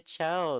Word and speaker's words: Cho: It took me a while to remember how to pronounce her last name. It's because so many people are always saying Chu and whatever.